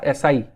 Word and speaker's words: asci: क्या प्रोनाउंसिएशन होगा इसका? एसआई।